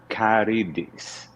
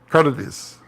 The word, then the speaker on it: Carides: But is it Carides? I swear, I asked you once, you clarified. Yeah, it's Carides. Carides. Yeah. Carides. Well. Carides. You put the accent on the second syllable. Carides.